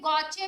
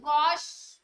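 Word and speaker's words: gauche: इसमें इस फॉर्म को बोलते हैं गॉचे भी बोलते हैं, गॉश भी बोलते हैं, प्रोनाउंसिएशन की बात है।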